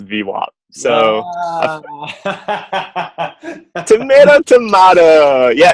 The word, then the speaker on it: VWAP: So really quickly, you pronounce VWAP with a soft A. Why do you do that? Well, I used to say VWAP, but everyone at the firm says VWAP.